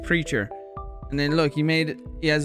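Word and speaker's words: PRCHR: P-R-C-H-R. Pronounced Preacher.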